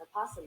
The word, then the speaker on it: opossum: And Google ends their definition with opossum can be pronounced with its first syllable either voiced or silent.